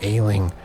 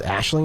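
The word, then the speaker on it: Aisling: words Juno you know ailing I was told this pronounced Ashley actually sewed up pronounced in that way from now on Juno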